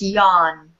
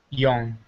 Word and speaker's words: yawn: It's yawn. Yawn. If you pronounce it like that, yawn. Huh? Yawn. Yawn. Yeah. So the AWN, that is really, the W is not really pronounced.